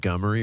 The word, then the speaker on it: Montgomery: correctly because you're I it's spelled Montgomery but everybody there says Mt I got to say Montgomery they say Gomery or gy let me see Montgomery gy Gomery yeah but I used